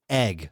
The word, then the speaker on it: Yig: ] is a egg you tell me it's egg I told you egg are we calling them eggs so it's spelled super stupid this is what I